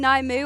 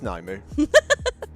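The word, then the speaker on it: Nymue: on orange, and even are we going Naimu or Nim, or the correct pronunciation Nimue? I feel like Naimu is kind of now.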